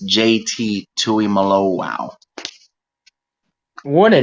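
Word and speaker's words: Tuimoloau: number 44 is JT and as it's technically pronounced it's JT Tui Malo wow what a name and do not it's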